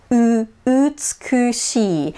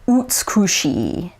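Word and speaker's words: 美しい: E example, utsukushi, beautiful, utsukushi. If I were to pronounce that with an American accent, it would be utsukushi. Notice how it's utsukushi, whereas Japanese it's utsukushi.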